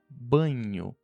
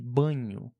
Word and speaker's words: banho: Então can é um pouco similar ao que nós temos o português NH de banho.